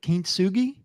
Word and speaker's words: kintsugi: Let me clarify, because You said it correctly for the American pronunciation. If Gotcha. you were to speak it in like a native Japanese inflection, it would have like a little bit different sound, but you I thought got you were it.